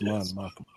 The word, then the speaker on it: Mon Mothma: the what was the character's name from the Mon Mothma? I think her name. How do you say her name? Yes, Mon Mothma.